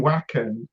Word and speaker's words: Wacken: I know we're doing Wacken Oh, in you are doing August. Wacken.